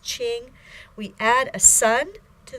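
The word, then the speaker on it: 青: character Ching means green that type of green pronounced Ching we add a Sun to the sound Ching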